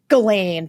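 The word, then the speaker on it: Ghislaine: truth about all this the Galain is Galain is exactly how you pronounce it.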